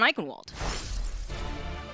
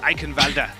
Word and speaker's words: Eichenwalde: So we're going to be looking out for that now as we get set up on Eichenwalde.